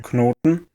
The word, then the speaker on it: knot: For example, German has the cluster /kn/ as in “Knoten”, and while English still spells its cognate “knot” with a k and n, only the n is pronounced.